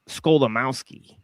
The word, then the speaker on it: Skolimowski: Henryk Skolimowski. He's Polish. Right? Okay, Henryk. Yeah, and it basically sounds exactly as it's spelled, SKO, right? And then Limowski, Limowski, right? So like Skolimowski, right?